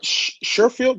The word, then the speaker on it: Sherfield: Trent Sherfield, did I say it right?